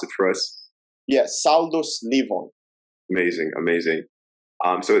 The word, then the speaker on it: Saldus SS/Leevon: club fully pronounced properly can you can you pronounce it for us yes saldo sliver amazing amazing um so it's honestly amazing to